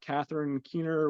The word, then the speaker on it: Catherine Keener: You have Cameron Corrigan, you have Catherine Keener, which I'm probably getting her name wrong.